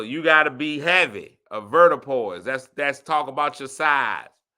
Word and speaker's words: avoirdupois: Avertipoise.